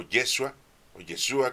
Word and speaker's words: Yeshua: Antes de que llegara aquí Jesús, o Yeshua, como ustedes le quieran llamar según la pronunciación, pues ya vivía con nuestro Padre Dios, viene de ahí.